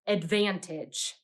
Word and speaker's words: advantage: them down here now that first vowel might have tricked you because the a is making the schah sound in this syllable it's not making the a sound that we expect